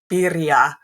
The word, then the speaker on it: birria: It was for birria tacos, birria, if I say it in more Spanish pronunciation.